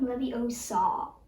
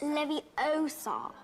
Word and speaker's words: Leviosa: Wingardium Leviosa. You're saying it wrong. It's Leviosa, not Leviosa.